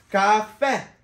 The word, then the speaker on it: caffè: Caffè! Caffè! Caffè! Caffè! Caffè! Caffè! Caffè! With the accent on the E at the end.